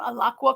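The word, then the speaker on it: Alaqua: I have up is aaka alaka I think is how you say her name alaka Cox is the lead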